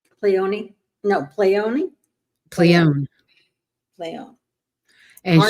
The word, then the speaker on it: Pleione: You don't pronounce the E. It was Pleione, I believe. Pleione?